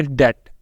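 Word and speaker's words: debt: पहले तो यहां पर हम इसको डेप्ट नहीं बोलेंगे क्या बोलेंगे डेट लिखने में तो बी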